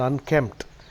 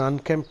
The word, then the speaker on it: unkempt: The synonyms for unkempt, the P is silent. Synonyms for unkempt are, like I told you, disheveled, DISHEVELLED, tousled, TOUSLED, a tousled appearance.